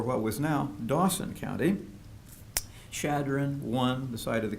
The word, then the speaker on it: Chadron: Egan who had started a newspaper there the Sioux County Journal and he was very energetically promoting the site as Chadron CH ad ro n which was named after